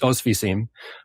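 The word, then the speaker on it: Oświęcim: I was on the train it led me to, I think it's pronounced Ostwiecim.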